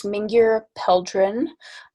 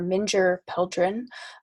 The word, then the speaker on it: Mingyur Peldron: as well sure yeah her name is minger peldren um or and depending on where you are minger pildrin um but uh she